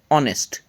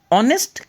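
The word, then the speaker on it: honest: that word is ऑनेस्ट ऑनेस्ट का उच्चारण जब करते हैं तो ओ से स्टार्ट होता है और ओ जो है यह भवेल है इसलिए ऑनेस्ट का जो उच्चारण किया गया उसमें में पहला लेटर को भवेल माना जाएगा और इसके आगे जैसे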